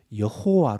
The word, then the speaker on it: 야훼: 야외 라고 되어있습니다 야외 예 야외 요리 성경이 야훼 라고 되어 있습니다 그런데 이 야외를 한국식 발음으로 옮길 때 여호와 로 옮겼습니다 여호와 루 그러니까 야훼 와 여호와